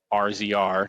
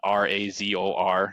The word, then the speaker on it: RZR: So it's RZR, and some people will call it literally like RZR, not Razor. And then other people will spell it RAZOR, not RZR. So yeah, those are the two. Those are the two where it's like, all right, you got to figure that out. It's Razor.